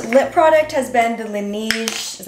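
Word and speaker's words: Laneige: my absolute favorite lip product has been the lineage is how you pronounce it the sleeping mask this definitely can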